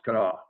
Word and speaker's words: Kanawha: It's pronounced Kanawha.